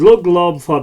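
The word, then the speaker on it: Lugh: in a later video and lug L now that's the old pronunciation of l La so we're using the more gutural older Irish forms and lug laa was at that time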